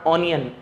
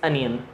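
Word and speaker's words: onion: इट्स नॉट ऑनियन, इट्स अनियन।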